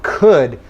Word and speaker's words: could: So you don't pronounce the O, and you also do not pronounce the L.